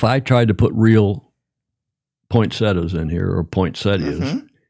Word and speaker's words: poinsettia: Now, that thing in front of you, you call that a poinsetta or a poinsettia? Poinsetta. Poinsetta. Even though it's spelled poinsettia with a t i. The i is silent.